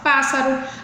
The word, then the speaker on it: pássaro: Qual é a sílaba mais forte? Paz.